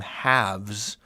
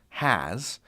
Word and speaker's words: has: entirely different word is have doesn't become haves um it's has and do doesn't become